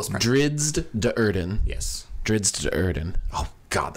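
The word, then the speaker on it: Drizzt Do'Urden: or drizzed Durden or it's very pronounced it's every syllable drizzed de Urban yes drizzed and oh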